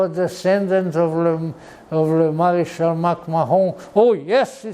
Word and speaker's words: MacMahon: troops, and he was, in French pronunciation, it's called General MacMahon.